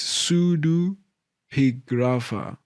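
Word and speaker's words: pseudepigrapha: So they say it's sudu pigrapha.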